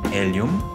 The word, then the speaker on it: Hélium: 분명히 프랑스어와 스페인어에는 H에 해당되는 철자가 있음에도 발음되지 않고 아예 이탈리아에서는 H라는 철자가 삭제되기까지 했죠.